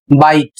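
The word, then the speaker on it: bite: यहां पर स्पेलिंग है बी आई टी ई और इसे पढ़ेंगे बाइट।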